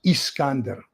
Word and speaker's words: Iskander: So I is always pronounced E. So the missile is Iskander, not Iskander.